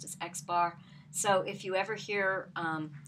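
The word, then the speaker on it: x̄: a line over top of it so it's pronounced as x bar so if you ever hear or read x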